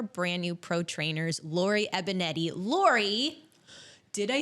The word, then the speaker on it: Banietti: I am so excited to be here today with one of our brand new pro trainers, Lorie Banietti.